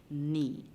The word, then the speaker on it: knee: no we did earlier we hear the sound of the n and we do not hear the song from the k and so k is our silent letter in the word knee now do you notice a